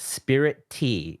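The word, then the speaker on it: Spiritea: way check this out this game is called Spirit T it's it's like spirit and te but it's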